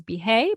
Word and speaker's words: Bihet: French the pronunciation is behave but it's b i h e t at the end you do not pronounce a t in French um thank you so